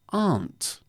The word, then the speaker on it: Arndt: My name is pronounced Arndt. Arndt.